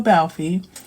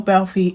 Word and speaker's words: Balfe: I think it's E is a long syllable, but Abigail Balfe, who grew up autistic but didn't fully know she was autistic until later in life.